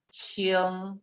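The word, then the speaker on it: 氢: Este carácter se pronuncia qing, ¿sí?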